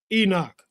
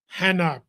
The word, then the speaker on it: Enoch: This is Enoch, Hanoch, pronounced several other ways.